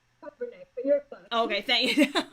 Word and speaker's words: Kobernick: Kobernick, but you're fine.